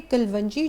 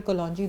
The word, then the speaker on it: कलौंजी: और दूसरा ये कि कलवंजी जो है, कई लोग कहते हैं कि जी अपनी प्रोनाउंसिएशन दुरुस्त करें। मुझे कलवंजी और कलौंजी दोनों एक ही समझ, तो गलत समझ आ गई हुई।